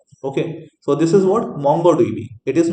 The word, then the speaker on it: MongoDB: so this is what mongodb it is not mango DB okay some student mispronounce it say like mango DV it is not mango it is what right so this is